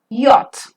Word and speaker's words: yacht: Y-A-C-H-T, yacht. Yes, the pronunciation of Y-A-C-H-T is yacht, a small boat with a long mast and sail used for yachting races on the sea.